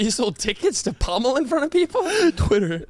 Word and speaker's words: pommel: What's the pummel horse? You said that chronically wrong. You're still saying it wrong. Pummel horse. There you go. Pummel horse. Yeah, closer. A lot closer.